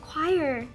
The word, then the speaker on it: choir: à choir Hả choir bị bói rối tại vì mình mặc định là cái chữ đó đọc là ch nhưng mà nó đọc là quire quir nhìn không biết được